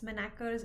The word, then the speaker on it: Manacher's: I hope I'm pronouncing it right. It is m a n a c h e r s. Manaker's algorithm.